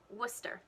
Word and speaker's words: Worcester: in massachusetts that are words that end with c-e-s-t-e what you think might be pronounced as chester but is actually stir so you've got places